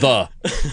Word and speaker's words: ye: different kind of campaign y in ye is a thorn which has the same phoneme as a th right so when you see ye old it's literally pronounced the more you know molly